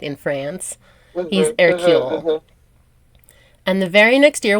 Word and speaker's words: Hercule: erule was born and erule if you see it written out is the French version of Hercules it's spelled just like Hercules so her little baby